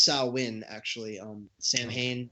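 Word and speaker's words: Samhain: on it and um it's you know it's pronounced sawin actually um Sam Hayne it's pronounced saim Chandler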